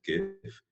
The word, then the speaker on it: GIF: And yeah, I said GIF. I will never use the J word. There is no way that the CompuLink graphical information format can ever be pronounced with a J, because it's not graphical, it's graphical.